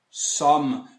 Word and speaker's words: sommes: Somme. Eu coloquei um acentozinho para fazer a distinção com o on, que a gente vai ver depois. Então a pronúncia é somme, somme, e tudo fica nous sommes.